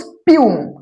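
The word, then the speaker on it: spume: অ্যান্ড the flung spray and the Bloom স্পাম বা স্পিউম, এটাকে উচ্চারণটা স্পাম বলা উচিত নয়, ওটাকে বলবো স্পিউম।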